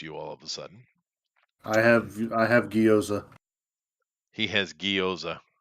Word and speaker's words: gyoza: All of a sudden, I have gyoza. he has gyoza. It's actually pronounced gyoza. Gyoza, but I'm not gonna. It's America, so I'm not gonna be like yo.